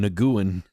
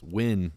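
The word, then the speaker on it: Nguyen: that last name and I always pronounced the name Naguan. They're like I think they were like no it's win.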